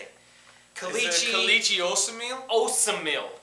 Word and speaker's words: Osemele: Osemele. That's how you say it. I always want to say oatmeal.